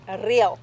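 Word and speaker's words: Riel: dance, yeah, correct, Tell us about, but you pronounce it real.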